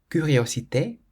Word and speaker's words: curiosité: A, an O, or a U, then you pronounce it k. For example, café. Café means coffee. Café. Concombre. Concombre means cucumber. Concombre. Curiosité.